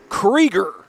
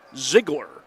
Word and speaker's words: Ziggler: on the offensive putback it's diesel creger excuse me mispronounce that last name it's diesel Ziggler and no that's not